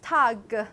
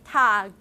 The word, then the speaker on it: Tag: In German, all the word final voiced obstruents, become voiceless.